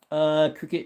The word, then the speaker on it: creek: Cricket instead of creek. Crick. Yep, crick instead of creek.